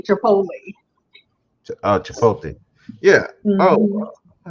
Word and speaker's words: Chipotle: chipot Chipotle I say Chipotle oh chipot yeah oh I have to try that one yeah I say Chipotle that's how I pronounce it so I got a